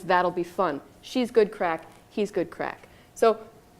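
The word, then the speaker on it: craic: And the last one is crack. It doesn't mean what you think it means. It's spelled C-R-A-I-C, and it actually just kind of means fun.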